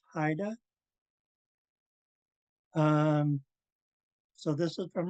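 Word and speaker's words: Xaayda: could see right here underline x a a y d a so that's pronounce Haida um so this is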